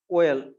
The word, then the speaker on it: oyl: OYL, इट is pronounced as OL, chloride.